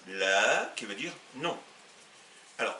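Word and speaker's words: لا: Et si vous tapez, donc, on aura le alif, le lem qui se prononcera le, et le alif qui se prononce a, ça nous donne la, qui veut dire non.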